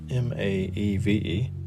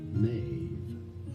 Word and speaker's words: Maeve: Okay, M-A-E-V-E. We'll do that. Not exactly sure how to say that, so I will refrain from making it terrible. But M-A-E-V-E would be M-A, silent E, most likely.